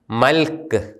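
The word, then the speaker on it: ܡܠܟܝ: നമ്മൾ ഉച്ചാരണ നിയമങ്ങളിൽ പഠിച്ചതാണ്, ഒരു പദത്തിൻ്റെ അവസാനത്തെ അക്ഷരം യൂത് വരികയും ആ യൂതിനും അതിൻ്റെ തൊട്ടു മുമ്പുള്ള അക്ഷരത്തിനും സ്വരമില്ലാതിരിക്കുകയും ചെയ്താൽ ആ യൂത് ഉച്ചരിക്കുന്നില്ല. ഇത് മൽക്ക് എന്ന് തന്നെയാണ് ഉച്ചരിക്കുന്നത്. എൻ്റെ രാജാവ്, മൈ കിങ്.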